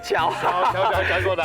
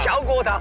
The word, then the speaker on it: 譙國堂: 乔国堂啊，发音要注意啊，那个是念乔国堂，乔国堂，不过啊，看